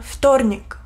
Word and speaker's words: вторник: Мартес en ruso se dice вторник. Вторник. Вторник. Вторник. También Эни es muy suave.